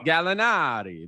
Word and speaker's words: Gallinari: you gotta say it gallinati that's how you gotta say it like that they need it yeah